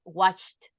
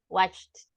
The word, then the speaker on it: watched: good Pro pronunciation okay just a couple of words exercised with T at the end and watched watched and exercised okay but you did